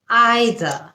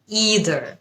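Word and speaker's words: either: American উচ্চারণ আরেক রকম প্রথম শব্দ আইদার ইদার আইদার এটা হচ্ছে ব্রিটিশ উচ্চারণ এবং ইদার এটা হচ্ছে আমেরিকান উচ্চারণ আই উইল আইদার হ্যাভ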